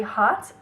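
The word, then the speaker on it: haute: fun next one is very hot it's spelled h-a-u-t-e and this is such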